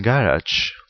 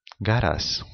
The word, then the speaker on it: garage: Spanish learners tend to weaken consonant sounds, like in garage, that may be pronounced garas, or in Spanish, that may be pronounced Spanish.